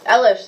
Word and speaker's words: Elish: Elish, like relish.